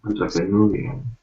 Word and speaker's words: entrepreneurial: So Entrepreneurial.